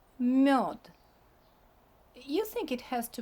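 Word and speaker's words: мёд: not like in English, the last consonant becomes deaf because it's in a weaker position. So we don't pronounce it like d, we pronounce it like t. Mёд, mёd.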